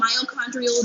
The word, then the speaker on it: mitochondrial: We're going to talk about mitochondrial DNA. Mitochondrial DNA. I was told I was saying it wrong. I was skipping the T.